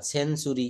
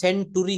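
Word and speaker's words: century: টি এর পরে যদি ইউ থাকে তাহলে তার উচ্চারণ চ এর মত হয়ে যাবে লেকচার সেঞ্চুরি এটা কিন্তু সেন্টরি হওয়ার কথা ছিল কিন্তু এটা আমরা উচ্চারণ করব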